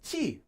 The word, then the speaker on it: 치: I know I didn't write it very well, which is pronounced as chi.